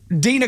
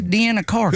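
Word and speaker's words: Deana Carter: They didn't even know Dina Carter's name. They mispronounced it. They're like, who's Deanna Carter? Who's Deanna Carter? It's Dina, man.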